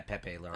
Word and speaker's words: Pepe Larraz: And this is by Jonathan Hickman with artist Pepe Larraz. Am I pronouncing that right? Yeah, Pepe Larraz, Okay.